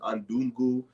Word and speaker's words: Undugu: you want to know attend that uh you spell it the spelling is u n d u g u uh undugu all right which is Swahili for